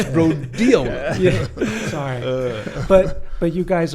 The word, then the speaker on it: rhodiola: Like actually, But It's not rodeo, it's rhodiola.